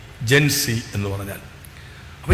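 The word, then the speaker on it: Gen Z: അതിൽ അതിൽ എത്ര ഈ ജൻ സി എന്ന് പറഞ്ഞാൽ ജനറേഷൻ ഇസഡ ആണ് അമേരിക്കൻ ഉച്ചാരണം ഇസഡിന് സി എന്നുള്ള ആയതുകൊണ്ടാണ് ഈ ജൻസി എന്ന് പറഞ്ഞുവരുന്നത് 1997നും 2012 നും ഇടയിൽ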